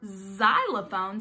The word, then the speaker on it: xylophone: Y x-ray and then the word xylophone sounds like the letter Z but it's actually spelled with an X and a xylophone is